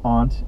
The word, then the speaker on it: aunt: talked at all about Aunt and Aunt as pronunciations and it turns out that ant is common throughout most of the country but aunt is far more common in the Northeast that there are Pockets